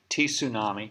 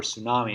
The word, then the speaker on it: tsunami: okay anyway so in 2014 there was a tea tsunami or tsunami if you pronounce it the way it's normally said that